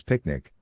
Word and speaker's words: PQNK: PQNK to be pronounced as picnic which stands for Peter Kratinam cashiari and means the regenerative and sustainable pristine organic farming system.